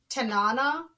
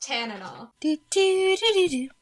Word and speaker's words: Tanana: See, you have I also love the way I also love that they pronounced Tanana. It's actually pronounced Tanana.